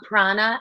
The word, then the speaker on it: Prana: Prana, exactly. Yep. Prana. Is it like a piranha or is it a prana? What do you think? Prana is her stuffy. Exactly. I have a stuffed dog prana and a real dog prana.